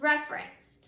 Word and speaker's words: reference: say that word together it becomes reference and when you say reference all out reference you can hear that the syllable has moved so when that happens